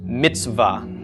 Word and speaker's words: mitzvah: ah the comments okay so this be pronounced Mitzvah so that Seth and the buck are sort of just running into each other there's no vowel sound in between them actually you'll frequently